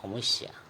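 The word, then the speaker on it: সমস্যা: हम असम्या में कहेंगे होमस्या उलझन को समस्या कहते हैं होमस्या उच्चारण होमवस्या नजदीक नजदीक मतलब ओसोत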